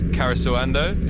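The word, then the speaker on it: Karesuando: It's more or less Karisawando in pronunciation, and it's a neat little spot.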